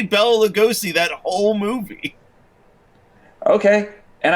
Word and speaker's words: Lugosi: do you pronounce that last name? Lugosi? I think it's Lugosi.